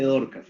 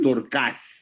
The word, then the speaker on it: Dorcas: No se dice Dorcas como lo dicen los pentecostales. Es Dorcas, ¿sí?